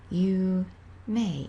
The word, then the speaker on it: 有名: put it together and you get you may pronounced you may it's a na adjective so don't forget to